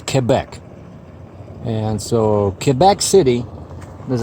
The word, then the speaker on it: Quebec: them over here so it's not cool back like I used to say it's Quebec and so Quebec City